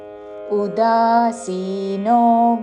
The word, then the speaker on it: ఉదాసీనో: అనపేక్షः శుచిర్దక్ష శుచిర్దక్ష అనపేక్షः శుచిర్దక్ష ఉదాసీనో ఉ హ్రస్వము ఉదాసీనో అని ఊతో పలకకూడదు. ఉదాసీనో ఉదాసీనో గతవ్యథః తా మీద ఆఘాత చివరిలో మహాప్రాణాక్షము థ. గతవ్యథః గతవ్యథః కాదు, అల్పప్రాణతో గతవ్యథః అని కూడా కాదు. గతవ్యథః ఉదాసీనో గతవ్యథః సర్వారంభ సర్వారంభ రా తర్వాత మాకి మహాప్రాణాక్షము భావత్తు.